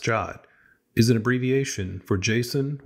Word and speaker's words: JWT: it to the console a jot spelled JWT but usually pronounced jot is an abbreviation for